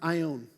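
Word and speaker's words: αἰών: and it's this Greek word right here it's pronounced I own and I own is a interesting uh word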